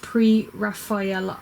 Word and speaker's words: Pre-Raphaelite: Hint, it's pronounced pre-Raphael.